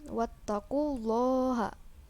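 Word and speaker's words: وَاتَّقُوا اللَّهَ: tidak disertai dengung kemudian wattaqullaha hukumnya tafkhim karena lafadz Allah didahului oleh huruf hijaiyah berharokat domah Hai cara membacanya dibaca tebal wattaqullaha la'allakum Hai Lala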